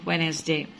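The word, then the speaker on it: Wednesday: এখানে খেয়াল করে দেখো, ওয়েডনেসডে ডিটা উচ্চারণ করা হবে না, ডি হচ্ছে সাইলেন্ট লেটার। আমরা কি বলবো? ওয়েডনেসডে। আমরা কখনোই বলবো না ওয়েডনেসডে, এটা বল, ডিটা উচ্চারণ করবো না, ডি ইজ a silent letter.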